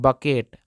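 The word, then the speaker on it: bucket: बात और ख्याल रखिएगा अगर कहीं भी के के पहले सी आता है तो वो वाला सी साइलेंट होता है यानी कि उस सी को कुछ नहीं पढ़ते हैं तो यहां दोस्तों बी यू सी के ई टी को पढ़ते हैं बकेट क्या पढ़ेंगे दोस्तों दो बी यू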